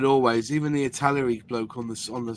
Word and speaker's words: Italeri: Italieri that's not how you say it. It's Italery now isn't it?